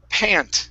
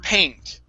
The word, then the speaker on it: paint: it's important is because if you say pun okay this is what you mean it's pant okay so it's a breathing heavily okay the other one is paint okay so that's that's why getting a good long a sound at times would be important okay okay all right